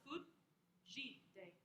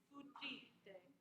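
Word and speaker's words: fugite: The DZ is like a J sound, or what we would say is like a mix between a hard and soft G in English. So food, that's how they're telling you to stop it. Fujite. Fujite. And then that second syllable, that middle syllable is the one that emphasizes.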